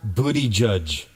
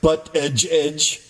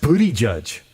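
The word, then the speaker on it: Buttigieg: I present to you the honorable booty judge. Because that's how his name is pronounced. Booty judge. Trump Trump's always like butt edge edge, which is also funny.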